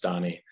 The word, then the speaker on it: Danny: This is my lifelong curse of having a name that is clearly spelled Danny, but in fact is pronounced Donny.